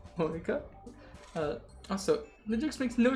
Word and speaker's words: Monika: it's writing your name monica monica uh that's not how you say my name at all monika uh also legix makes